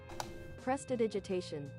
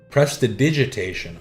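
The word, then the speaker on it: prestidigitation: Pronunciation. Press the digitation. Press the digitation. Oh, okay. Dig, not dig. Press to digitation.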